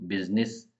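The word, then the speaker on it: business: ऐसे लिखा जाता है बिजनेस को बिजनेस इसमें आई ऑफें साइलेंट और रिड्यूस्ड कैस ये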